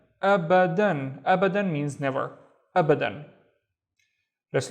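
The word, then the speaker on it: أبداً: The first syllable is just because of the Hamza. And then ba, dan. Abadan.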